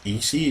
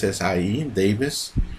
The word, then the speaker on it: Essie Davis: Jennifer Kent starring uh I didn't pronounce it right AC is Essie Davis that's that's the mother